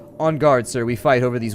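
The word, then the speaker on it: en garde: touche in on guard I almost said Inu guard because my brain was thinking phonetically but on guard sir we fight over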